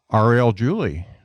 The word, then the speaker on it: Ariel Julie: listen to this one it's a good one Arielle Julie hopefully I pronounce that right do they pronounce that right